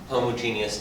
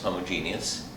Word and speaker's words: homogeneous: I'm Dr and this is differential equations in particular A first order homogeneous equation homogeneous is five syllables homo G us for homogeneous but five syllables homogeneous and homogeneous equations are